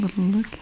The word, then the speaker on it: Lidl: pretty good some little epic loves spring Black Friday savings circular next we have Lidl and in the USA they do pronounce it little I love this house